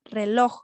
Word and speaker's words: reloj: se nota se diferencia donde va el mayor golpe de voz dentro de esta palabra reloj en la sílaba al ojo balón entonces